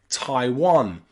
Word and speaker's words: Taiwan: Hawaii or even Thailand here the A and the I are pronounced I I Thailand Taiwan or Hawaii with that